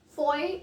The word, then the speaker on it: foyer: So stepping on to our third word, foyer. Foyer or foyer? Yes, foyer is the correct pronunciation to this word.